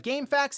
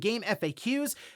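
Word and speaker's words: GameFAQs: There we have game facts and game FAQs.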